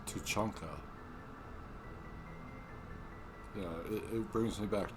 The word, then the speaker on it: Tuchanka: But yeah, Tuchanka and Tuchanka. It's Tuchanka. Just so that you guys know, he's saying it wrong.